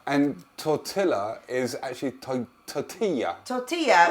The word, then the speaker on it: tortilla: tortilla is actually to Tortilla tortilla if it's a double L it's pronounced as a y anyway that's for another